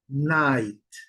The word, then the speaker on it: night: Time, time, night, fine. Observem que observações aqui. Time não se pronuncie o é. Night não se pronuncia o GH.